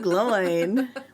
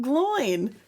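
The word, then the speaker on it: Glóin: But yes, Gimli, son of Gloin. Yeah, because I think Andy Serkis in the audiobook pronounces it Glowin.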